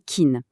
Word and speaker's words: can: Quand Can se retrouve au milieu d'une phrase sans être accentué, il est souvent prononcé très vite, presque comme kin. Par exemple, dans la phrase "I can speak French", le can est à peine audible.